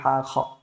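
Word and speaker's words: ح: দেখতে পাচ্ছেন ওকে তারপর হা উচ্চারণ করার সময় বলেছিলাম কন্ঠনালীর মাঝখান থেকে উচ্চারণ করতে হবে বাতাসটাকে কণ্ঠটাকে উজার করে দিয়ে উচ্চারণ করতে হবে হা তারপর হ উচ্চারণ করার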